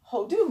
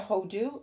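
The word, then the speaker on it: הודו: And it will talk about King Xerxes, or however it's translated in yours, being king from Persia to Hodu, I think is how it's said.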